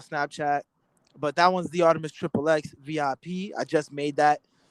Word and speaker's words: ArtemiXXX: That's the THE Artemis ARTI. There's no S, XXX. So it's pronounced ArtemiXXX. A lot of people pronounce it Artemi, but it's ArtemiXXX or Artemix.